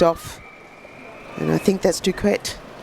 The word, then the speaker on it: Duquet: And I think that's Duquette. How do you reckon we say her name really? D-U-Q-U-E-T. Bouquet. Okay. Like bouquet.